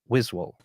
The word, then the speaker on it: Wiswall: the commissioner of United grid League himself wiswell great pronunciation you know what happened I thought so